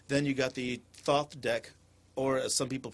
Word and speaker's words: Thoth: Then you got the Thoth deck, or as some people pronounce it, I don't know why, but they pronounce it the Tahuti deck. Or the Toth.